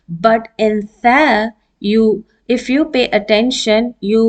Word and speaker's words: ث: Now in this letter, this is th, as we pronounce it thin in English. Actually, it is pronounced as thin.